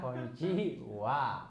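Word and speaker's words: こんにちは: Sebenarnya ha bukan. Tapi yang benar adalah wa ya. Walaupun tulisannya tetap harus pakai ha gitu ya.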